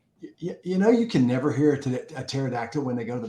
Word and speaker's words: pterodactyl: And I was thinking about, you can never hear a pterodactyl when they go to the bathroom. Yeah. Because the P is silent.